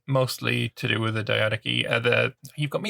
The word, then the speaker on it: Diadochi: So it says in standard British English it's diadochi.